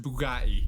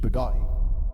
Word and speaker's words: Bugatti: It's pronounced Bugatti. Bugatti.